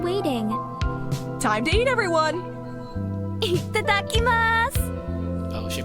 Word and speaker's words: itadakimasu: Itadakimasu! Oh, she pronounced it correctly.